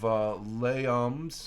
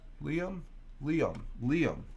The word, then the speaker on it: Liam: And then we have another one of Layums who's giving me the pronunciation, which I appreciate. SM9. I'm always pronouncing it as Layum. That okay? So what did Helen say it was? It's pronounced Liam.